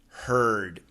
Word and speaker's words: heard: Can you help me with the pronunciation of the words hurt, heart, and heard?